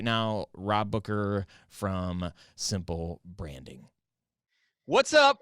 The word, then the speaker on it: Booker: as Rob Booker the Boomer spam even it's pronounced Booker Oh Rob is man he's a number of